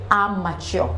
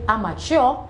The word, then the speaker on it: amateur: word is amateur are not are mature for example he is an amateur boxer he is an amateur boxer I hope that after taking part in this class today you will stop saying amateur and say amateur thank you for taking